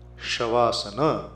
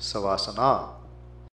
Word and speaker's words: Shavasana: Shavasana becomes Savasana.